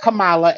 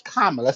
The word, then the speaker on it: Kamala: you on this before her name is not Kamala and you know that her name is kamla so you will address Madame vice president as